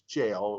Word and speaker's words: Gaol: prison Kilmainham good Gail I think it's called Gail which is Jail where we go Jim kill me yeah exactly it's spelled gaol so but it's a